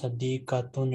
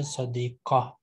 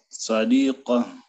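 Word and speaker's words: صديقة: Whenever we stop at Ta Marbuta, we pronounce Ha. So if anyone says Sadiqatun, it is wrong. You better say Sadiqa. Taliba. Tabiba. Read this verse again. No. Sadiqa.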